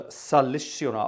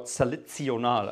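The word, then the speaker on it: salicional: On the bottom manual, we have something called a salizionale, or salizionale, actually, that's how it should be pronounced, which is a bit rounder than the viola.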